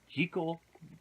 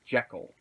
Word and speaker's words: Jekyll: want to look into is why did the pronunciation of the name go from G cool to the more commonly used Jekyll it's an interesting thing I think Hollywood has